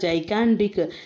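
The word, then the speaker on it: gigantic: Then they closed the door and heard the ஜைகாண்டிக், actually ஜைகாண்டிக்னு தான் pronounce பண்ணுவோம், ஜைகாண்டிக் sound of the rain falling in don'ts and அவலான்ச்சஸ் everywhere and forever.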